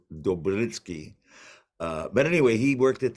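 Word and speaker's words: Dopyera: And what happened is they were partially and well mostly designed and by a fella, a Slavic American named John Dopiera, and I've been told it's actually pronounced more like Dobritsky.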